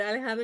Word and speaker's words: Alejandra: my today's guest is Alandra did I pronounce it right I say yeah most people call me but aleandra is fine yeah wow I'm so